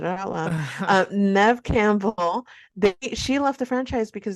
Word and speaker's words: Neve Campbell: And I mean, the Scream franchise, let us not forget that Neve Campbell, did I say her name right?